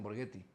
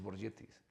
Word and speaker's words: Borgetti: que que estaban ahí y decía, porque ellos también me decían Burgetti y yo le pregunté, digo, "Entonces, ¿cómo se pronuncia?"